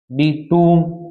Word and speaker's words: tomb: कॉम, जैसे TOMB, टूम, इसको टूम बोलते हैं।